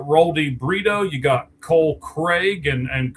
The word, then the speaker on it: Carrigg: You got Cole Craig, and Craig is spelled all kinds of weird, or Carrig, I guess is actually how you say it, Carrigg.